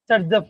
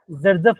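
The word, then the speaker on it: Saytzeff: जिसे हम बोलते हैं सर्जफ रूल। क्या बोलते हैं बच्चों, उसका मैं स्पेलिंग देता हूँ। उसका स्पेलिंग होता है सेड, SAYT ZEFF, इसे बोलते हैं जर्जफ रूल बोलते हैं। सर्जफ बोलो एक ही बात है।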